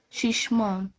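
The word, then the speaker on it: şişman: شيشمان. الشي هنا بتتنطق زي الاس اتش في الانجليش، زي سي اتش في الانجليش، دي برضو بتتنطق زي الاس اتش.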